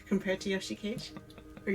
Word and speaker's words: Yoshikage: Western, I guess, like, compared to Yoshikage. Or Yoshikaji.